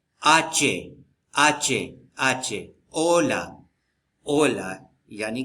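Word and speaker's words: hola: कि ल आचे ओला ओला को हम होला नहीं कहेंगे ओला एच जो है ना वो खामोश रहता है हमेशा स्पेनिश में एच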